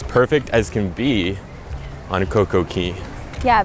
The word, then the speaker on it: CocoCay: as can be on CocoCay. Yeah, because it's pronounced key, not K, so it shouldn't be a perfect day on CocoCay.